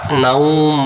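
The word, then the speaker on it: نَوْم: তারপরে আমরা এখানে দম ছেড়ে দেওয়ার কারণে আমরা নাওম বলবো।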